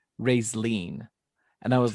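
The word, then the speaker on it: Raistlin: and when i said racelyn the first time he goes josh dude it's not pronounced that way it's pronounced ray's lean and i was like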